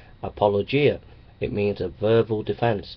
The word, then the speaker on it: apologia: word apologetics comes from the Greek word apologi pronounced apologia it means a verbal